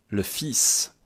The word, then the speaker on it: fils: Le fils. Attention à la prononciation. Le fils. Je prononce comme ça. Le fils.